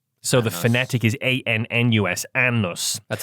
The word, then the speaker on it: Anus: Despite its unusual spelling, the community's name is traditionally pronounced Annus. So, the phonetic is A N N U S, Annus.